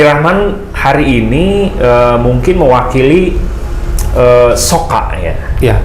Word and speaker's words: Socca: hari ini mungkin mewakili sok kaya ya bacanya sok kaya sok cak kocak dari mata dari mata Ayo mata bahasa Sundanya so cak kocak atau kalau udah banyak